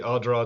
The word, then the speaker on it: Ardara: Where we are and your So where we are, we're in the Ardara Distillery. So there's a sort of half an A in the middle of it. I think most people would say Ardara, but it's Ardara.